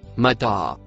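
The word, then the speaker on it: متاعا: Le mot en rouge se prononce Mataa.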